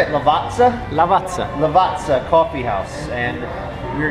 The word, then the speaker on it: Lavazza: Lavazza.